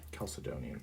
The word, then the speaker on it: Chalcedonian: kind of um Christian doctrine formulated by the chalcedonian Creed Caledonian Caledonian Creed thank you I think I've said